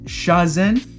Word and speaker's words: Shazin: Your name is pronounced Shazen.